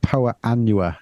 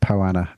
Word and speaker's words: Poa: And poa, not Poana, Poa.